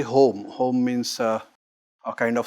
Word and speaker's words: homa: It may not be pronounced as homa farming, it's simply home.